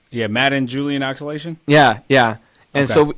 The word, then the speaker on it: Madden-Julian: Madden Julian oscillation, yeah. Madden Julian Like m a d d e n? a m a d d e n, yeah, like the like the football game.